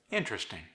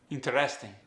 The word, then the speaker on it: interesting: For instance, I say comfortable. He might say comfortable. Interesting. Interesting. Notice how I placed the stress at the beginning of each word, and his was more towards the end.